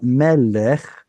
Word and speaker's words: melech: Much like melech was originally malk, Mhm. And that's where the stress was. And then an artificial vowel is inserted here in order to make it easier to pronounce. It's not going to be stressed though. Malech becomes melech.